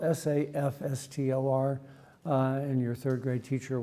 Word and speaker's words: SAFSTOR: industry will call it SAFSTOR, but it's spelled S-A-F-S-T-O-R, and your third grade teacher will be rolling over in her grave because that's pronounced SAFSTOR. Rhymes with SAP, not safe.